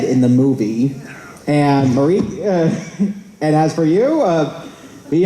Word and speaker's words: Marÿke: Marÿke, rhymes with Jamaica. Marÿke?